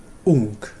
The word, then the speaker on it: ung: But the basic form is ung.